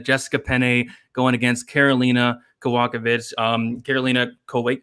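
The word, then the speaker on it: Kowalkiewicz: none other than jessica penney going against carolina kawakovich um carolina colway how do you say it i've had it all week and i finally can't get it karolina kobachevich there it is okay so um but basically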